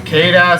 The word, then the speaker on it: Sita: Is it Keita, Seda, Sheeta? Well, Fire Emblem Heroes actually and Warriors finally give us the way how to pronounce it once and for all. It's Sita.